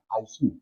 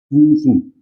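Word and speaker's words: I Ching: एक चीज का मैं और उल्लेख करना चाहूंगा, आइसिंग या ईसिंग करके एक पुस्तक है दर्शन की, चीनी दर्शन की पुस्तक, ईसिंग ये उसका उच्चारण हुआ।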